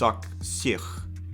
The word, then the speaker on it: Auxerre: Auxerre, is that how you say it? I don't know, that almost sounds like a deodorant brand. Axe? No, it's not Axe, it's Auxerre. Auxerre.